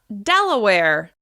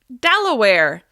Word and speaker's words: Delaware: Next up, Delaware. Delaware. This state is stressed on the first syllable. Delaware. Delaware. Delaware. Remember, you need to hold that stress syllable and then close back down afterwards. Delaware.